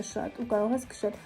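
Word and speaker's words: 四: Yes, because the number 4 is pronounced "ci" and also the word " death" is pronounced the same way just with another tone.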